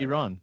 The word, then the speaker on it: Iran: So, I mean, the the genesis of this entire conversation was around the straight of Hormuz and how to pronounce Iran. Iran, not Iran, Iran and the Straight of Hormos